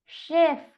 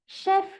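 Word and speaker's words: chef: Sound तो एस एच का है, लेकिन यहाँ पर लिखते टाइम मैंने सी एच यूज किया है। स्पेलिंग बिल्कुल सही है, आप इसे बिल्कुल सही रीड कर रहे हैं, इसका प्रोनाउंसिएशन शेफ ही होगा।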